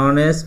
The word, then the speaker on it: honest: an honest, এই silent আছে।